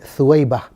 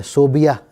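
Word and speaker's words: ثویبہ: सा वाव या बा और हा ये सही स्पेलिंग है। सुईबा हमारे यहां इसे गलत स्पेलिंग की जाती है। सोबिया लिखा और पढ़ा जाता है। यह गलत है। सुईबा नाम है।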